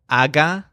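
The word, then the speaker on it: haga: us are very easy just think hog with a silent H we have Agha Agha and again they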